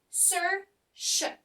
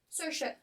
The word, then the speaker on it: Saoirse: Mais alors, Saoirse, en fait, on coupe le prénom en deux, et il faut essayer de prononcer. Il y a quand même peu de logique, hein, on va pas se mentir, mais en fait, ça se prononce Saoirse. Saoirse. Comme, je sais pas moi, Sersze, si vous voulez, Saoirse.